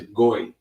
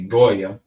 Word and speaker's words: goy: the word for Gentile, you're going to see is goy. Goy. Or we would say Gaulian. Goy in Greek pronunciation or Yiddish, so to speak.